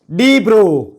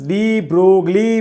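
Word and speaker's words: de Broglie: That is डी ब्रो, जिसको बहुत सारे टीचर्स डी ब्रोगली बोलते हैं। ये मोगली नहीं है, उस पे से ब्रोगली नहीं बन रहा है, ये डी ब्रो बोलते हैं। इसका सही प्रोनाउंसिएशन जो है वो है डी ब्रो।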